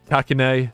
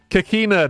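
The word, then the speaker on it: Kakine: own against kakini oh I always pronounce his name wrong takina Aussie gequina kakina there we go sorry I always struggle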